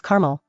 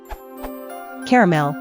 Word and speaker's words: caramel: pronounce the middle a they pronounce it exactly like the girls name Carmel from my experience all